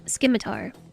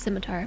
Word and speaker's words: scimitar: And this capital ship, the Skimitar. Yeah. Yes. I I know it's scimitar, but I'm calling it the Skimitar.